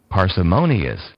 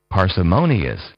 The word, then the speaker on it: parsimonious: m o o n i o u s parsimonious parsimonious parsimonious parsimonious is your word of the day